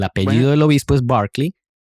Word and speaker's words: Berkeley: del obispo es Berkeley y la ciudad en California se pronuncia Berkeley.